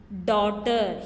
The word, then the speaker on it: daughter: Daughter. Here GH is silent.